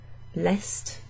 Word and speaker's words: est: south east west so lest is the East he or it is from the East so Ile you don't pronounce the s or the T it's just it's just